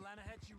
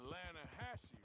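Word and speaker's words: Lannahechee: The other day, I rode down to the Lanahatchee River, I caught some beautiful steelhead trout. You mean the Lanahatchee River? No. The Lanahatchee. It runs right near here. Yeah, but it's pronounced Lanahatchee. Why is everything in English said differently than it's written?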